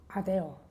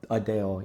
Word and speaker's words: ADO: It's Or what you call Adeo. Adeo, yeah. It's ADO is how you spell it.